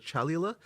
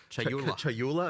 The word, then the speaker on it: Chayula: So the acolyte of, I always get this name wrong. The acolyte of is it Chalula? Chayula. I always say this wrong.